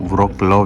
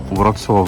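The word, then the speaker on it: Wrocław: वो व्रॉक्लाव लिखा है ना जो, हाँ उसको व्रॉत्स्लाव प्रोनाउंस करते हैं।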